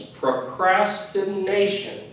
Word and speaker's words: procrastination: words procrastination and now word actually has two emphasized syllables procrastination right good excellent to emphasized on that one of course always the the syllable before the show is the nation but also procrastinate so you put them together you have two syllables that procrastination perfect basically that's